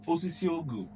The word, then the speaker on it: Osisiogu: Osisiogu. All right, so I'm corrected now. It's Osisiogu.